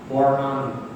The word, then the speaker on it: পর্ণানি: পর্ণানি যখন নটা উচ্চারণ করে পর্ণা, তখন জীবটা ভিতরে যাবে, মূর্ধায় গেলে তবে মূর্ধান্য পর্ণানি। ওখানে গিয়ে আবার জীবটা সামনে আসবে, পর্ণানি বলবার সময় খেয়াল রাখবে।